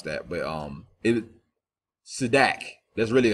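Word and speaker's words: צדק: I can barely pronounce that, but Sedak.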